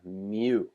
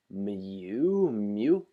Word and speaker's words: mu: with a mean of mu, okay, so you would pronounce this as mu, or mu, I guess you would say here, but it is this Greek letter that looks like a U here.